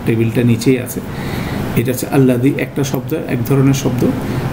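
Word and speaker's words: الذي: পাশাপাশি এটার উচ্চারণটা আমাদের চেষ্টা করতে হবে আল্লাহ শব্দের মধ্যে লামটা মোটা, আল্লাযী এখানে দালটা মাথা দিয়ে উচ্চারণ হয়, সেই ডিস্টিংশনটা আমাদের করার চেষ্টা করতে হবে, নাহলে 2টা কনফিউজড হয়ে যাবে।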